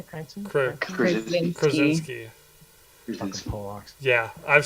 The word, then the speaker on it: Krasinski: Is it John Cranston? Cranston? Krasinski.